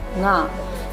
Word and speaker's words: nga: Fish nga, N silent रहेगा, GA nga।